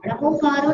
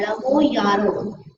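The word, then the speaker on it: णमोयारो: एसो पंच नमोकारो, नमोकारो नहीं होता है, नमो यारो।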